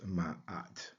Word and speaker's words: Ma'at: So the ship's stern and foundation is identified or transliterated with the letters MA, pronounced Ma. Then we have the arm and hand and the loaf of bread, which is transliterated with the letters AT. And together that would give us ma'at.